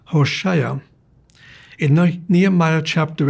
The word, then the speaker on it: Hoshea: A name is pronounced Hoshea.